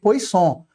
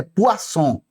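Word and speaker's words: Poisson: Ó, esse nome aqui eu gosto de ler pois som, mas não é a pronúncia certa, tá? A pronúncia certa é poaçom. Poçom, poçom, né? É bonitinho ler assim, né? Pois som fica mais bonitinho, mas é poa som.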